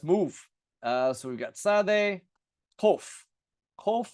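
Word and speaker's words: קוף: And you notice I pronounce it differently than the kaf. So it sounds like the kaf, but I pronounce them differently. I have kof, kof, kof, and kaf, kaf, kof, kaf. Kof is more in the back of the throat. We call that emphatic, like the sa, sad, and the ta, tet.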